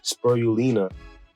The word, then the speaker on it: spirulina: protein uh s sperm spur yulina spoil i think i'm saying it wrong spirulina eight grams of protein